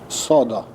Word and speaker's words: Sodo: Sodo.